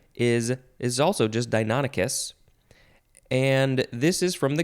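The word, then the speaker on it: Deinonychus: do that the next word is deinonicus this is spelled fun d-e-i-n-o-n-y-c-h-u-s dinonicus it sounds like uh sounds like a dinosaur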